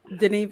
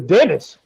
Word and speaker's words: Denis: Denis Villeneuve. Denis? Denis Denis. Villeneuve. Where? Denis? I thought his name. I thought his name was Dennis. Last name thought- is Well, I mean, look at the way it's spelled.